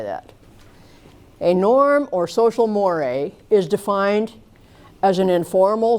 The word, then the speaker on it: mores: Basically, what we're looking at here is behavior that violates society's norms and mores. It looks like mores. It's pronounced more.